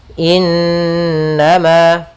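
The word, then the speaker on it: إِنَّمَا: ditahan Inama kembali lagi kita menemukan di sini ada nunhakat tasdid kita namakan Dengan gunah cara membacanya yaitu ditahan surahnya dua harakat innama Kemudian pada lafal Ma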